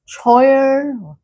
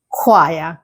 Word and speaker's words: choir: Many learners would say choir choir, but the correct pronunciation is choir, completely unexpected. So, repeat after me. choir choir So, even though there is a ch at the beginning of the word, it is not the same sound as chair. It is a k.